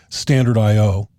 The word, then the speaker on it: stdio.h: this file called stdio.h which is sometimes simply pronounced standard io the entire file will